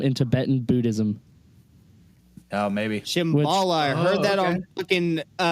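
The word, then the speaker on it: Shambhala: said the argatha system and then explained the Shambala thing and then it had Mount Shasta over here like it was just like one of many pieces to the I I so Shambala um at least if it's spelled s h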